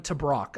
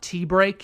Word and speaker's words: Tabrock: Creighton's two-time Big East Pitcher of the Year, Dylan Tabrock. I actually looked it up. It's not T-break, it's Tabrock. Don't ask me why it's spelled that way, but whatever.